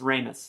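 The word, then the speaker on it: Ramis: and my grandpa actually i looked up how to say his name it's remus it's not robin's uh harold ramus at least that's how brian williams said it and i mean come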